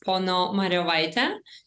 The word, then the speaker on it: Ponomariov: it's my first name and last name is Pono Maria so um yeah and I am from Lithuania